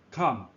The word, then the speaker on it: 憨: 甲心放伫下骹，直接勇敢冲出去，意思努直也，读音砍，例句砍头砍面。